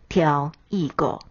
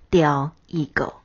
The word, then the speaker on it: 刁意故: 刁意故是指故意、存心，念作挑意狗，或念作刁意狗。